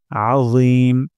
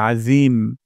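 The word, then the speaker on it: عظيم: রব্বিয়াল সুবহানা রব্বিয়াল তারপর আজিম আইন গলার মাঝখান থেকে উচ্চারণ করতে হবে আ তারপর র জিহ্বার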